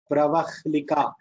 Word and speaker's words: Pravahlika: For now, we are pronouncing it as Pravahlika. Ha la. First ha. Then la. For now, we are pronouncing like that.